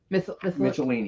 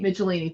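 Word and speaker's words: Michelinie: and it is David I want to say his name right michelini mitchellini thank you David mitchellini and Tom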